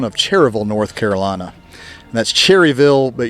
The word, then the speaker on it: Cherryville: Cherryville North Carolina that's Cherryville but you don't pronounce the Y Cherryville North Carolina and North